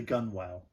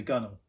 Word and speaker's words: gunwale: common installation place is under the gun well or even the gunnel well you've written gunwale no that's how it's spelled oh is it yeah